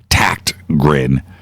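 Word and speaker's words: Tägtgren: up it's ta GT GRE n but it's pronounced like with a k' that's how the Swedes do it tact grin even those ta GT but send Peter a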